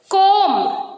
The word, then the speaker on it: comb: B is silent when it is after M. Okay.